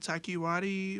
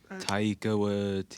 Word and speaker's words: Taika Waititi: Like how do you pronounce it? Taiki Wadi or Taika Waititi. Taika Waititi.